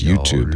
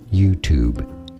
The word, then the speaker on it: YouTube: way which is as YouTube YouTube so note the T sound here and the tube sound YouTube I love that